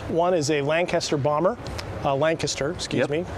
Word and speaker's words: Lancaster: Lancaster, British pronunciation.